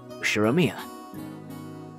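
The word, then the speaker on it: 右代宮: The first part is my family name, Ushiromiya. That's a fairly plausible Japanese pronunciation so far.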